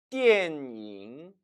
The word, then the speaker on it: 电影: 电影 절대 电影이라고 발음하지 마세요. 중국어에는 여는 법칙이 없습니다. 앞발음과 뒷발음은 철저하게 분리가 되어야 한다는 거죠. 다시 한번 읽어볼까요? 电影 잉은 그림자 영자죠.